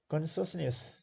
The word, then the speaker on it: consciousness: Consciousness, consciousness, so three. Consciousness, consciousness. So three syllables, first is stress.